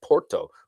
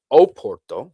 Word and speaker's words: Porto: John's Eve in the city of Porto, or Oporto with an O in front of it, as they often pronounce it.